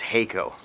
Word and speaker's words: Haico: And he said, either way is fine, but the correct way is Haico.